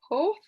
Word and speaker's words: Hoerth: And there's one about the archaeology in the Old Testament by Alfred, I don't know how to pronounce his surname, I think it's Hoerth. It's Hoerth.